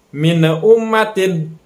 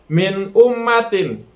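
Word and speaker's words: مِنْ أُمَّةٍ: Alif nya huruf Idhar maka dibacanya harus jelas hai minum Madin Jangan sampai kita pantulkan membacanya minum matiin nah itu yang salah atau didengungkan jadi mi ummatin Nah itu juga salah Jadi dibacanya harus jelas antara Nun bertemu dengan alif minum matiin nah di sana cara membacanya saya cara membaca yang benarnya minum matiin Kemudian yang kedua hai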